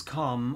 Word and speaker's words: calm: So calm and farm are exactly the same.